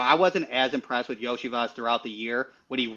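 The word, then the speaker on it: Iosivas: Cincinnati has Burton, and I'm going to butcher the last name, but is it Islovas? Yoshivas. Yoshivas, yeah.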